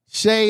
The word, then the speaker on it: Shay: Shay, okay. Shay is the best way to pronounce it.